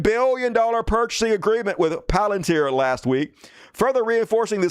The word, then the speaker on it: Palantir: Speaking of which, the Department of Homeland Security signed a $1 billion deal with Palantir. Some dumbasses call it Planeteer. I hate you guys. Palantir, which is clearly how it's pronounced.